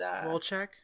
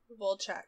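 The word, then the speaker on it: Wojciech: he was pulling uh it's it's volchok volchok however you say it but it's spelled w o JC ie CH and then frykowski so he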